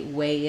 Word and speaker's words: weigh: in on that and the pronunciation of this word way and this word way are the same we have the and the a diphthong so you can think